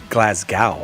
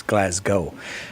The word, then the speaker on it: Glasgow: You're not supposed to say Glasgow. I said Glasgow, and it's Glasgow.